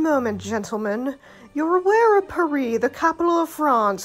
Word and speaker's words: Paris: occurred to me that while the Americans pronounce it with the added s sound the rest of the world has collectively decided to pronounce it silently with certain exceptions of